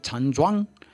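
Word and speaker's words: 站桩: Tem um exercício no Tai Chi Chuan chamado Zanzhuang, ou em chinês a pronúncia é Chanzhuang, Chanzhuang, Chanzhuang, dependendo da província, tem um sotaque também.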